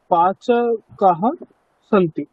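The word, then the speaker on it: पाचकाः: পাচকাহ আস্তি পাচকৌ তাহ পাচকাহ সন্তি দেখুন একবচন বহুবচন তো একই উচ্চারণ হয়ে গেল তাই না কিন্তু বহুবচনে একটা আকার আছে না তো কাজেই এই উচ্চারণে আমাকে ওই আকারটাকে স্পষ্টভাবে বোঝাতে হবে পাচকাহা সন্তি বলুন একবার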